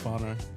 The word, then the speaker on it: whānau: Not an F, Jace. It's a WH, So bro. what do we say? Kia ora whānau.